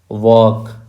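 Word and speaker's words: walk: को जोर से कहिए वॉक इसमें एल साइलेंट है रेप इसमें डब्लू साइलेंट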